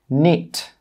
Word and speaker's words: knit: When the letter K is before the letter N, the letter K is normally silent. Some common examples are knit, knock, know, knowledge, knack. In all of these words, we're not pronouncing the K sound.